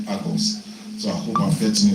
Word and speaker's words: AGOS: or it can be anything so he said agos so I hope I'm getting it right I